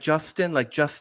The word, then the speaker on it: Jostein: So when I come to the English language, it's more easier to call me Justin. It's like the name for Justin. So yeah. So like Justin.